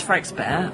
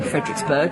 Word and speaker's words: Frederiksberg: find ourselves right now this is frank's bear oh fredericksburg if you pronounce it in the english way um it's a city